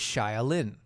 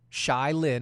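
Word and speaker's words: Shai Linne: His name is Shai Lin. S-H-A-I, Shai Lin. I had to pronounce the A-I in there so people would understand.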